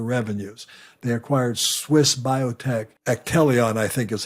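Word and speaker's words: Actelion: they've also made several deals recently as according to Zacks now to boost their revenues they acquired Swiss biotech atelion I think is how you pronounce it a-c-t-e l-i-o-n for 30 billion dollars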